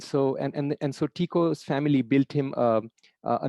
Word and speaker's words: Tycho: actually an employee of another brilliant astronomer named tico brahe so it's pronounced taiko tycho but it's the correct pronunciation is tico brahe so he was uh an employee of